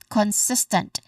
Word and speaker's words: consistent: Okay, so we get consistent sis as a stress syllable.